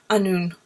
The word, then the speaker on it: Annwn: float swim competing so it's actually meant to be pronounced unknown um so it's a